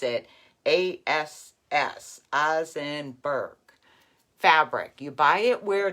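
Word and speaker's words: Osnaburg: n a b u r g but you pronounce it as azenberg fabric you buy it where they sell the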